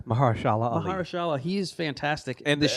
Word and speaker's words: Mahershala Ali: And then we have Mahershala Ali in Moonlight, and I think he's amazing in that part.